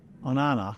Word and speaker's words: Onana: I think why he went to Onana, is that how you say it? Onana?